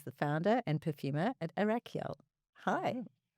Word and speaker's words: Arakyál: a very high level a little bit about Arachiel. So, first of all, have I pronounced the word right? Very close. It's Arael.